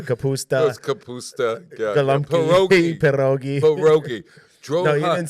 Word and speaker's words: pierogi: It's pierogi. You got to roll that P. Pierogi. I don't know how to roll a P. Just like you roll your R's.